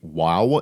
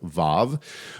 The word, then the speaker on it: vav: It is believed by many scholars that the vav used to be pronounced with a wa sound. So, it would be wow instead of vav. Whereas it shifted in modern pronunciation now says vav with a v instead of a w.